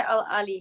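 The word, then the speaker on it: Al Ahli: you pronounce that yeah you say al ali so i actually used to think that it used to be used to say but it's not it's actually al ali yeah they say it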